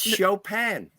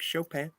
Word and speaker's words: Chopin: Yes, It's and that it's Chopin. yeah, Chopin. Chopin. I He don't know how to pronounce it.